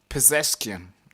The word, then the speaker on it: Pezeshkian: Pezeshkian.